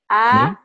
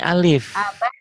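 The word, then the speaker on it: ألف: Dibacanya A. Bukan, ini alif. A itu kalau sudah berbaris.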